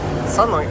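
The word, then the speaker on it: Seolleung: We're here, and we are going to Sunlung. It's interesting, they spell it S-E-O-L-L. That's like sung, but in Korean it's sun. That's like S-U-N, but that is S-E-O-L, Sunlung.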